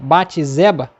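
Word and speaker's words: Bate-Seba: Davi com bate zeba é assim que pronuncia bate zeba que ele teve que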